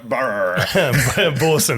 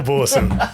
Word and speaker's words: Boersen: a homeowner how how do you say your last name I always just go borson borson yeah it's pretty close yeah borson welcome